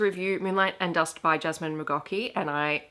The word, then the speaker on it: Jasmin McGaughey: Today I'm here to review Moonlight and Dust by Jasmine Mocki. And I mispronounced this in my video on the other channel, but I did actually look up how to pronounce her name.